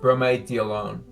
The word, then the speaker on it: bromediolone: I think RP would be a good sort of slang term for God, how do you actually pronounce it? I have it spelled out. Bromediolone.